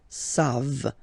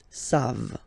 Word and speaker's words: savent: E-N-T, you don't pronounce it, so you get the sound savent, v-v-v-v, savent, okay?